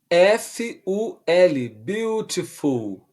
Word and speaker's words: beautiful: Escreve B-E-A-U, repetindo do começo, B-E-A-U, T-I-F-U-L, beautiful, ok? Ou beautiful, com o som do T fazendo o som de R, belezinha?